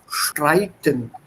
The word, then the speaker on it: Streiten: And a couple of small things, like I said, SP im Sprechen und ST im Streiten. They are pronounced with an sh sound.